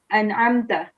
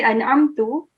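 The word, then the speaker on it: أَنْعَمْتَ: As you can see here, it's an'amta. You can, if you say an'amtu, it will change the meaning in it completely. So an'amta means you blessed, an'amtu means I blessed, okay?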